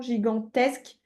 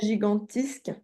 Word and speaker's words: gigantesque: Ok, donc Et- tu t'en souviendras maintenant, gigantesque oui, et pas gigantisque.